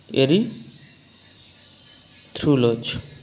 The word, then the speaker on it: erythrulose: কিন্তু কিটো গ্রুপ যুক্ত হলে কি উচ্চারণ করব? এরি থ্রুলোজ। এরিথ্রুলোজ। ওকে।